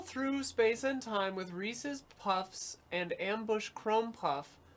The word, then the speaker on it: Reese's: says is a word Reese is a name Reese's Pieces it's meant to rhyme as the actual words pieces is pronounced [